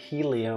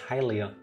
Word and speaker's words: Hylia: suffering these wounds because people pronounce it Helia when it's hylia again yeah no I don't